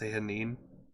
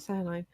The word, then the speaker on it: Sehanine: Is now a bad time to tell you it's actually pronounced Sehanine? Yes. Okay, I won't tell you then. Thank you, Garm. That's amazing. Sehanine? That's so weird. Yeah, because I've always pronounced it Sehanine.